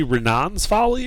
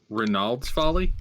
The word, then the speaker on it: Reynolds Folly: you intend to say renan's folly or are you making up a word here it's Reynolds follow you sorry I've been hearing it wrong the entire time it's Reynolds Folly Renault renan's folly that's